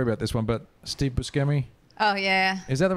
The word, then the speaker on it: Buscemi: So I think that I say Buscemi, but Buscemi. I think I'm wrong. Okay. I think that's the Italian way to say it is Buscemi, but I think he pronounces it Buscemi.